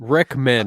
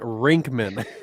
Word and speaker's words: Rickman: rip Alan Rickman yeah real one Rickman not rinkmann shut up you said